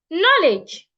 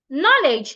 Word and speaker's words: knowledge: theci side another word knowledge knowledge knowledge has two syllables as well and it's a noun so I must stress the first syllable knowledge not knowledge knowledge